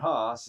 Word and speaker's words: Haas: And then, of course, Haas came out, not Haas. Haas is spelled H-A-A-S.